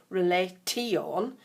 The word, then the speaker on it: relation: saying the word relation, you don't hear a T in that at all. So even though it's spelt R-E-L-A-T-I-O-N, T-I-O-N, we don't say T-on, relation, it's relation. Kind of sounds as if there's an SH in the middle of it, but that's not the way it's spelled.